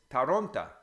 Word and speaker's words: Toronto: And there are a few little things that are kind of deceptive, like the O, if it's not stressed in a word, becomes A. So Toronto is Taronta, because the O becomes an A.